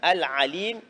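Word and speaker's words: العليم: Al-Alim, qu'il faut bien prononcer, le Ain, faire la différence entre le Ain et le Hamza, le Alif.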